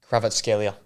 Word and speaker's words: Kvaratskhelia: Kvaratskhelia, Yeah, right.